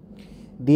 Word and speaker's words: the: দি এর উচ্চারণ নির্ভর করে পরবর্তী শব্দের প্রথম বর্ণের ধ্বনির উপর। দি উচ্চারিত হয় যখন পরবর্তী শব্দ ভাওয়েল দিয়ে শুরু হয়।